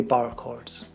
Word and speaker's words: barre: Barre chords can be pronounced barre chords or simply bar chords.